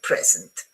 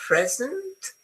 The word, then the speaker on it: present: If it's a verb, it goes towards the second syllable, okay? But the easiest one to remember is present. I give you a present and I present you with a present.